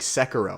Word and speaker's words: Sekiro: Now I'm playing Sekiro. I believe that's how you pronounce it.